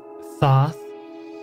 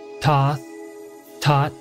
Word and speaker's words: Thoth: you ask it's pronounced Thoth taught among many more yet this is all variations of the Greek word for the Egyptian god I'm not talking about